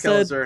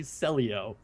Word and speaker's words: Kelazhur: So it is Kelazhur, and I can't read. It's pretty much what happened. It is not actually Celio. Yes. Man was just reading the pronunciation of the website Excello wrong.